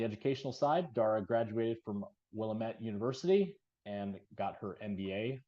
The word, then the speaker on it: Willamette: Sounds like me, although my fellow Bearcats would be offended if I didn't correct you and say it's Willamette. Willamette.